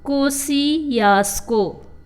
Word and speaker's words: Kosciuszko: Once again I am pronouncing it. Kosciuszko.